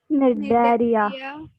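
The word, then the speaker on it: Cnidaria: Porifera, Everyone Nidaria, I want everybody's noise. Prachi, Mrunal, Gargi, Pranav, सब लोग come on, pronounce the third one. Nidaria, Yes, you have to call it as nidaria, C silent, nidaria.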